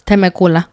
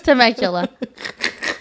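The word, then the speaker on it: Temecula: I thought it was Tmacula, but it's Tmacula. Tmacula. I can you imagine selling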